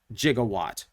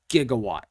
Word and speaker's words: gigawatt: more use out of jigawatt gigawatt whatever you want to pronounce it as so that one